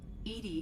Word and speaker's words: EDI: is a jar why are you named Ed Ed is the phonetic pronunciation of e that is an acronym for